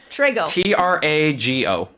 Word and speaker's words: Trago: other guy tractor sauce tray like with a t t-r-a-g-o trago and what was the